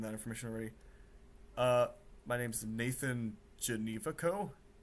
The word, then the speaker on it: Genevico: You pronounce it Janivaco. Janivaco. It's not Ganuakau. I think it's German, because I know we have some German DNA in our family. But yeah, it's Janivaco.